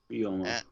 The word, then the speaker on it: Ryoma: Ryoma. Ryoma? That's how you pronounce that?